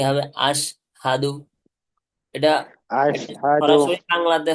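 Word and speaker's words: أشهد: না যাবে না যাবে না তাহলে কি হবে আশহাদু এটা সরাসরি বাংলাতে হ আছে না বাংলাতে জি হ এর মত উচ্চারণ হবে বাংলাতে কিসের মত উচ্চারণ হবে এর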